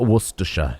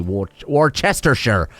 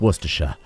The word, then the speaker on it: Worcestershire: That's how you pronounce it. Worcestershire. You don't say Worcestershire. It's just Worcestershire.